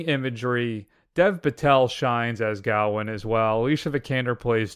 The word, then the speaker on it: Gawain: This interpretation of the tale of, how do you say it, Gawain?